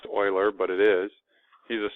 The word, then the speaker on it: Euler: his last name doesn't look like it'd be pronounced Euler but it is he's a swiss swiss mathematician